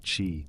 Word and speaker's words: qi: In ancient China, health wasn't just about the body either. It was about energy. The invisible life force called qi, pronounced chi, flowed through all living